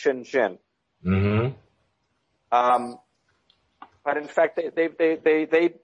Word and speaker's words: Shenzhen: And the one that's most famous is Shenzhen, pronounced Shenzhen.